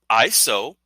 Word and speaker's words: ISO: based International Organization for standardization to launch its ISO which is in the International Organization for standardization pronounced ISO 2022 messaging standard it launched in